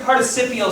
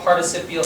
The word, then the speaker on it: participial: of participial phrases hi that word participial sounds like the word participle remember how we learned